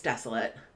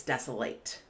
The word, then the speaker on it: desolate: So this word can be pronounced in two ways. As an adjective, it's desolate, and as a verb, it's desolate. So let me explain what it means in both of those ways.